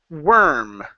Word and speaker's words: worm: The one with the O R is actually pronounced with an eer sound like that.